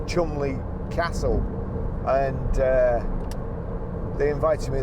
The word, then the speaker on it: Cholmondeley: I was lucky enough, again, Ford invited me to, well, it's spelt Cholmondeley, but I think it's Cholmondeley Castle, and they invited me there to drive the new Ford Fiesta when it came out.